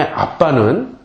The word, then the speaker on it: 아빠: 때 아빠라고 불렀던 거예요 이 아람어의 아빠는 우리나라 어린아이들이 아빠를 부를 때 아빠라고 부르는 것과 발음도 똑같고 의미도 똑같아요 영어로는 데디 정도 되겠죠